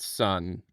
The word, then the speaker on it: Sunn: Also, it's pronounced Sunn.